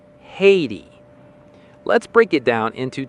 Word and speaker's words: Haiti: correct American pronunciation is Haiti. Haiti. Let's break it down into two easy syllables. Hay ti. For the first syllable, think of dried grass fed to horses on a farm, which is hay.